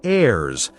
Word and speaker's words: heirs: And this word heirs has a silent h. So it sounds like heirs and it means family members who can receive like children or maybe other relatives.